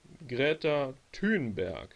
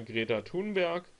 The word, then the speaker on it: Greta Thunberg: oder greta kienberg er das sind die aussprachen die ich so gehört habe also entweder greta thunberg oder greta kienberg und letzteres klingt für mich eher noch skandinavischer muss ich sagen sprich das ist so diese ich sag mal vielleicht ursprüngliche aussprache zur eingedeutscht sagt hört man eher greta thunberg und ich denke mit bezug auf die skandinavische herkunft wird er von greta team berg gesprochen das habe ich